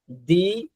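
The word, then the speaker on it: the: যদি কোনো শব্দের শুরুতে ভাওয়েল থাকে অক্ষরটা, তখন দি উচ্চারণ হবে, টি এইচ ই এটা দি উচ্চারণ হবে।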